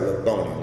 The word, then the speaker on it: Lil Thony: Lil Tony, but he spelled it like he pronounces it like Lil Thony.